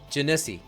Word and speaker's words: Genasi: Yeah, Genasi is how we pronounce it here.